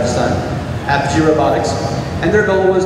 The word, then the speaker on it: Apogee: Apogee Robotics.